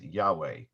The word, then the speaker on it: Yahweh: to pronounce the name, but Yud He Vav He probably was pronounced Yahweh.